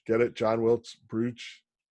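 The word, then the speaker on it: Booth: And finally, the John Wilkes brooch, or John Wilkes brooch, but it looks like brooch. Get it? John Wilkes brooch. It's pronounced brooch, but it's spelled brooch.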